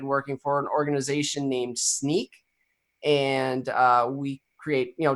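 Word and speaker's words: Snyk: it's spelled s NYK there's actually some debate even internally in the organization as to how you pronounce it but I just wasn't free well SNY case so it's either sneakers Nick but it's sneak it's just our our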